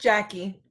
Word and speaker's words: Jackie: it and um uh am i pronouncing your name right jacques or is it the french pronunciation it's jackie oh it's jackie i'm so sorry all